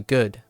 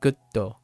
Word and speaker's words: good: Like it's not frustrating or sad or angry that someone keeps pronouncing like gutto as opposed to good. Like there's no pause. It's good, not gutto, right?